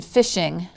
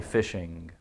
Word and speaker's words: fishing: Write the letter of the final sound in fishing. Fishing. Fishing. And people don't often accent the end letter like that because they say fishin', but it's actually fishing.